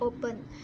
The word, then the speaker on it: open: Kita mempronunciation atau membaca open, mengucapkan open ini penekanannya di suku pertama.